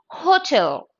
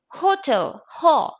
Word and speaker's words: hotel: Instead, you have to use a because H is also pronounced. It is hotel, not hotel. It is hotel, hotel. Hospital, not hospital, right?